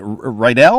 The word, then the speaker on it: Riedel: They said, Riedel the Needle, coming to give your show a bad review. So it rhymes with Needle.